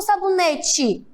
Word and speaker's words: sabonete: É sabonete ou sabonete? É sabonete, mas eu escrevo com E, sabonete.